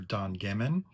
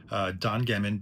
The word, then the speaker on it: Don Gehman: They intentionally recruited the producer, Don Gehman, I believe that's how you pronounce his name, because they wanted to move